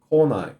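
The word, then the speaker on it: 来ない: If you're using kanji, note that the reading of the come kanji changes so that the verb is pronounced konai.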